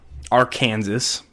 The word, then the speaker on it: Arkansas: Our Kansas. Our Kansas. Yes. As the locals say, I've been told. Because English is messed up. You're messed up. Uh, so yeah, we're going down to Arkansas.